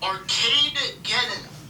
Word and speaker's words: Arcadegeddon: There. Arcadegeddon. Arcade and Armageddon. Arcade and Armageddon. Arcadegeddon. So There you go. It's Arcadegeddon, apparently.